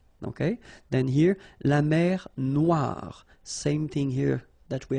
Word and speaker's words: noir: then here la mer noir same thing here that we had previously final not pronounced. Okay. And then o e remember wa noir noir la noir.